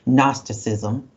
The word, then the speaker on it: Gnosticism: We don't pronounce the G, Gnosticism.